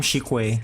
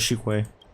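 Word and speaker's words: Qingque: Miss Shikwe, please escort our. That's how you pronounce the name, Shikwe. I'm gonna remember that is Shikwe.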